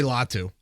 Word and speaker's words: Latu: He's like, call me Latu. I'm like, all right, that's easy enough. So we'll call him Latu. So yes, there's the phonetic spell, or there's the pronunciation of Mr. Latu there.